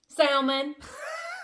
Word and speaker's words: salmon: Salmon. Yes, I put the L in it.